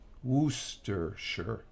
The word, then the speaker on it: Worcestershire: was talking to Rich oh okay was just pronounce worcestershire Wooster sure did I say that right no problem Helen